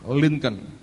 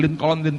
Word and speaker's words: Lincoln: Tokoh ini namanya Abraham Lincoln. Ini presiden Amerika. Saya mau tunjukkan akan riwayat hidupnya. Kalau baca jangan Lincoln, saudara.